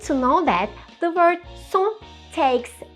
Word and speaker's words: cent: Even if we add S at the end of cent, we don't pronounce it.